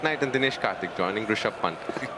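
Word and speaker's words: Rishabh Pant: and Dh Karthik joining Rush Pant that's the right way to say it he's a real character made that position his own now, hasn't he?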